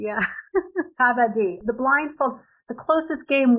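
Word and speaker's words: kabaddi: yes that's it how do you say it kabati kabadi yeah kabadi the blindfold the closest game we have to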